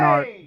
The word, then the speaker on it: Art: How you doing, Art? I'm doing okay. It's pronounced Alexakis.